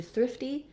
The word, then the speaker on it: thrifty: is really tough um when we change to thrifty thrifty our t turns into more of a d and then it's gonna sound more like thriff d uh i'll actually write that here first syllable stress long on the thrift and then a little short light d thrifty okay thank you for